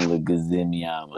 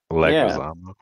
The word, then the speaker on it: Leguizamo: Yeah, John Leguizamo. Exactly how you said it. You said it right. Leguizamo.